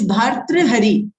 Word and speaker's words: Bhartrihari: Maybe I'm pronouncing it wrong. It's Bhratathari. Can you write it? I will. It's Bhartrihari.